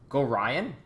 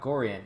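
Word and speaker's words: Gorion: Go Ryan? Go Ryan? Like Ryan with go before Ryan. Oh, see? There we go. So it's not Gorian, it's Go Ryan.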